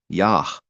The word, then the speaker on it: יה: If there's a dot at the end of this letter specifically,